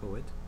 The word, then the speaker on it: Coet: My name is Coet.